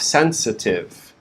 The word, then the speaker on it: sensitive: word we have sensitive the stress is on the first syllable sen and then the second syllable we have the schwa the upside down is so we go from sensa sensa and then we finish the word with tiv sensitive sensitive notice the